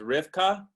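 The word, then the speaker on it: Rivka: the comments uh rebecca's name in hebrew is rifka and so there there there is a similarity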